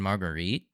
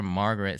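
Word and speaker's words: Marguerite: as both Margaret and margarite technically both I guess are correct but I always called her Margaret since that's how it's actually pronounced in Japanese like you read the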